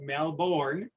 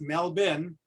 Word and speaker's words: Melbourne: Those Americans pronounce it Melbourne, but yes. They taught me it's Melbourne.